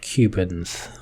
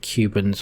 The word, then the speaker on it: kubens: you a tool called Kubens. So Kubens and also kubectx is power tools for kubectl. So with this we can, I'm not sure whether I should pronounce it Kubens or kubeNS, but it's really like